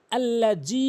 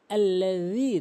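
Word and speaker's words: الذي: লোক এটি ভুল করে এরপরে যে ভুলটি আল্লাজি বলে এখানে বলতে হবে আল্লাজি জিহ্বার আগা এবং দাঁতের আগা নরমালি আরবি 29টি হরফের ভিতরে তিনটি হরফ রয়েছে।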